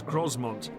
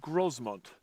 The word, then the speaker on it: Grosmont: And as my walk climbs towards Grosmont, the landscape still shows signs of how the barons managed the activities of the population.